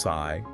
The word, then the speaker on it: Psi: So the Greek letter sigh pronounced sigh was chosen to replace Nuno.